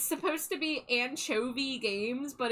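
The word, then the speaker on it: Ancho-V: Uh, it's supposed to be Anchovi Games, but it's a N C H O dash V. So, it's supposed to be like Anchov, but I was pronouncing it anko like like like echo like anko.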